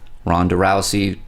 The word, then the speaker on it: Ronda Rousey: I think you're referencing The Roadhouse remake with rondarousey yeah is that how you pronounce her name yeah I feel so out